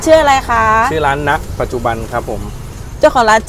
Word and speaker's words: ณ ปัจจุบัน: เดิน เข้า มา เนี่ย อาจ จะ อ่าน ว่า เน ปัจจุบัน ก็ ได้ นะ คะ อย่าง เช่น หยิน นะ แต่ ที่ จริง แล้ว มัน ชื่อ ว่า ณ ปัจจุบัน นะ คะ นี่ คือ